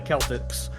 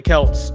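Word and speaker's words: Celts: the Irish this just the Celtics or the Kelts and then you know pretty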